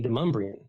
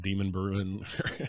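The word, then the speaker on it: Demonbreun: Well, I call it DeMumbrian. It's downtown. It's one of the roads no one knows how to pronounce, but it's because of a settler, Timothy DeMumbrian. He's a fur trader. Yeah, it's everybody likes to, people out of town call it Demon Bruin, because that's kind of how it's spelled.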